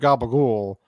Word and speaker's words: capicola: because we call it we always called it capricola capicola well that's that's what you're supposed that's normal no no no I don't know we never called it with the a at the end of it it's just a couple call yeah yeah that's why